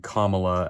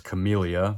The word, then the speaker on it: Kamala: And Thompson kept pronouncing Kamala as Camellia, so there's that as well.